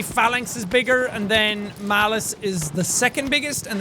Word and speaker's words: Malus: to fight now is called Malus And not malice as in ma. I M-A-L-I-CE but M-A-L-U-S Same thing, but it's